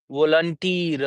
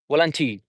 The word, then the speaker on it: volunteer: There would be a soft pronunciation of the volunteer r sound. Okay, volunteer. In British English, we will say volunteer, volunteer. Okay, in American, we say volunteer. Okay, so the pronunciation would be there for r. There we are going to enunciate. We are going to utter that particular sound as well in that scenario.